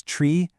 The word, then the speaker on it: tree: Two, use the special pronunciations tree, f, and niner.